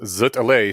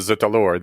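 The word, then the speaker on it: zut alors: post is yay because zut Al sounds much closer to Z Alor than something where you pronounce the s what's zut alore you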